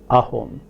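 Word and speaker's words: অসম: a word such as assam which is ahom pronounces ahom given any word beginning with the vowel it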